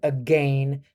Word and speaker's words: again: Although it bothers me when somebody says again to rhyme with rain, up the spout again.